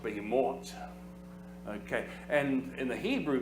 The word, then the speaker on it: behemoth: In the Hebrew, it would be pronounced behemoth.